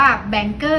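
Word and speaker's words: Bangor: ได้ เลย ค่ะ ค่ะ อ่าน ว่า แบงค์เกอร์ อยู่ ใน ตี นะ คะ ไม่ ใช่ บังกร ครั้ง ที่ 2 อ่ะ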